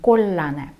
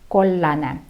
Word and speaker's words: kollane: Да, если это цвет желтый, kollane, и вы видите две согласные L вместе рядышком, мы их удваиваем, да, произносим kollane, kollane.